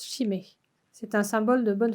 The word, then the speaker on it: shime: marque derrière on leur on se prononce malo et le symbole à l'intérieur se prononcent chimay c'est un symbole de